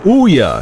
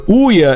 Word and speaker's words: Ouya: console is called the Ouya it's pronounced like booya without the B the Ouya is not meant to